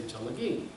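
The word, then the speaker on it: Tsalagi: Now if you ask most Cherokees, how do you say Cherokee in Cherokee? They say Chalagi.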